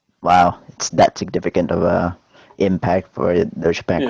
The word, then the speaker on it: Deutsche Bank: Deutsche Bank, not douchebag, Rick.